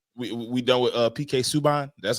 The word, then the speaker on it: Subban: All right, we done with PK Subban.